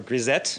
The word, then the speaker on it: grisette: Or grisette? Grisette, yeah. You say the T because there's an ETTE. Yes. If it was an ET, then it would just be an A sound.